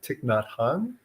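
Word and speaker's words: Thich Nhat Hanh: course another uh well-known Buddhist monk is uh Tik not Han um from a Vietnamese uh Mahayana tradition if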